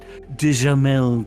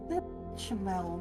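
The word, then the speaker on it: béchamel: Bechamel, not Dijamel.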